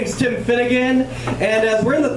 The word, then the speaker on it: Finnegan: did something hilarious where he mispronounced my last name he's like give it up for tim flanagan everyone i'm like no no my name's tim finnegan so anyway so now